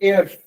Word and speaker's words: Eyre: Lake एयर, मैंने आपको जब पहला लेक्चर था तो मैंने आपको बताया था कि आप इसको आयरी नहीं कहना, इसका साउंड आता है एयर।